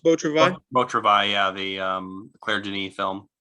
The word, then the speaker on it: Beau Travail: Is it pronounced Beau Travail? Beau Travail, yeah, the Claire Denis film.